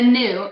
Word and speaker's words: Nue: He's the new. It's a NUE is how you spell it. He's the new.